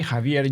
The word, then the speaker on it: Javier: get it wrong is the J Javier J is sounds like an AG Javier jaier right okay I should